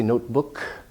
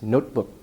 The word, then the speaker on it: notebook: no release of air you don't say notebook it's notebook your breath stops there and also here because the T